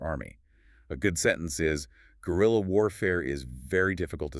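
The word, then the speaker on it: guerrilla: A good sentence is gorilla warfare is very difficult to stop because the fighters hide easily. A quick note on pronunciation for our listeners. It sounds exactly like the animal gorilla.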